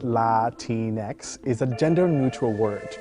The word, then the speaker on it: Latinx: all right let's go latinx pronounced la tinex is a gender-neutral word